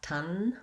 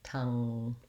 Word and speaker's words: tongue: So not with the tongue forward and sealing the air, but not tun, but tongue.